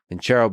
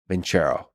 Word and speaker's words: Vincero: Vincero, by the way, is spelled with no H, just C. Vincero.